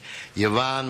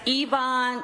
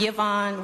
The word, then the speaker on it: Yvonne: Yvonne, followed by Bobby Cooper. Yes, that's Yvonne, not Yvonne. Y-V-O-N-N-E is pronounced Yvonne.